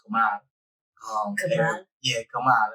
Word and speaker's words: Kamal: People say they pronounce it Kamal, but it's really pronounced Kamal.